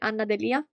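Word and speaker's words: Anna D'Elia: The second book that I read in August was Fotografia come terapia by Anna Delia. It rhymes, I know.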